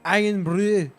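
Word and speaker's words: Irn-Bru: When it's pronounced over there, it's more of an Iron Brew.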